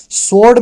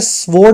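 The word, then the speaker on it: sword: सोर्ड में W silent होता है, स्वोर्ड मत बोलना, इसको बोलते हैं सोर्ड, ये डब्ल्यू नहीं बोलते।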